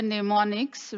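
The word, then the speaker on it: mnemonics: this is called the neonics which is the instruction uh the letters which are used for the instruction in Assembly Language m is silent in this case and the these are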